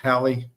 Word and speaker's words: Hallie: Let me pronounce that right, Hallie.